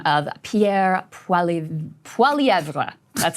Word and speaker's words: Poilievre: That's the French pronunciation. I think he says Poilievre, I think is the way that I'm going to call him Mr. Pierre. That's what we're going with. Poilievre is the French version.